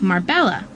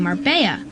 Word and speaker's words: Marbella: See, in Spanish, 2 L's equal a Y sound, but most people don't even know that. So they say Marbella, like a marble or something, instead of saying Marbella, which is how it's supposed to be pronounced.